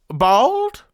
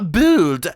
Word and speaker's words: Buld: Bald? Kathy looked like she was about to descend down a scary roller coaster. No, Buld, like bold.